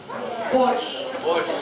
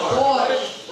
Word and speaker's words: borscht: Borscht. So, can you spell it once again? Borscht.